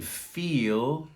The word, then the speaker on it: feel: very difficult one here the difference between feel and fill long e soft eye feel i feel something i